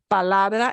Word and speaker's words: palabra: And the second to last is the la, palabra. The way we say that obeys the rule, palabra.